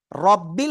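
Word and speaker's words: رَبِّ: রব্বিল হবে নাকি রাব্বিল হবে? আমরা তো গ্রাম এলাকায় নাম ধরে ডাকি। এই রাব্বি এদিকে আয়। এই রাব্বি তাই না? আসলে ওটা রাব্বি হবে না।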